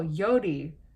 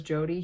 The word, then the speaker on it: Jodi: Jodi he goes oh yo Dee like just because he's Swedish he can't say her name properly as Jodi he literally calls her